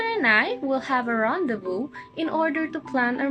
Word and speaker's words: rendezvous: pronounce this word it's actually actual pronouns as rendezvous rendezvous rendezvous according to Google the